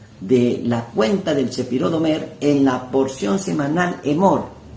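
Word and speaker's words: עומר: la cuenta del Sefirot Omer en la porción semanal Emor. Omer, que significa cuenta, y Emor, que significa contar o decir. Son las mismas letras, pero con pronunciaciones diferentes.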